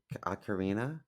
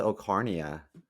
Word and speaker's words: Ocarina: word but Zelda Ocarina Ocarina yes oh I always say oh cornea nope when you're a idiot Ocarina of Time 64.